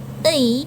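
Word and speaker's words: 의: Ei di sini karena ditaruh di belakang maka dibacanya e artinya milik.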